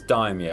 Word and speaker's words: daimyo: this time offensive form it's daimyo is die me I wanna make that very clear let's even if we